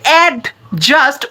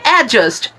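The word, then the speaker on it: adjust: ডি হয়ে যাবে silent, মানে ডি এর কোনো উচ্চারণই এখানে আসবে না, আপনারা উচ্চারণ করবেন অ্যাডজাস্ট, অ্যাডজাস্ট।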